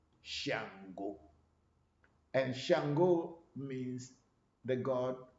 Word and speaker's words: Shango: west africa in nigeria they don't call it chango they call it shango shango and shango means the